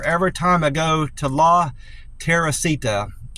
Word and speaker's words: La Teresita: Every time I go to La Teresita, it's spelled Terisita, I believe is how it's spelled, but it's pronounced La Teresita Restaurant on Columbus Drive.